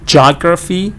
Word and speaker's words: geography: of geography, they say geography, they remove one syllable? So that's what's happening here. Here, the book says geography instead of geography. They remove the ea sound, so they get the jaw sound, geography.